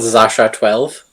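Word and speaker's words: X Æ A-12: The AE is apparently pronounced Ash. Mm-hmm. So the kid is called Zasha 12.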